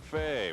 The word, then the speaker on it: Fahy: they call Beef, Mark Fahy. Why not? 6'1", 225. He said, don't pronounce the Y.